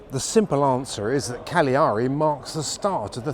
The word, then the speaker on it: Cagliari: It's pronounced Cagliari.